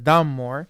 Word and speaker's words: Dunmore: el gobernador de Virginia donmore or dunmore como lo pronuncian los gringos lanza una proclamación el